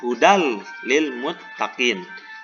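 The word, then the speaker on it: هدى للمتقين: yakni lam dan rom cara membacanya yaitu dengan memasukkan atau meleburkan nun mati ataupun tanwin kepada huruf setelahnya dengan tidak disertai suara dengung perhatikan contoh di bawah pada kata gudang limuttaqin dibaca hudal Lil Muttaqin tidak dibaca izhar Hudan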